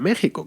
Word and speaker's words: México: la palabra examen luego otra que sería sonar como j como la palabra méxico que tú sabes que se escribe con x luego tenemos otra que